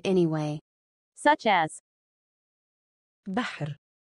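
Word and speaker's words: بحر: Such as Bahr, Bahr, Bahr means sea. The letter which has sukoon, it is pronounced with the letter before it.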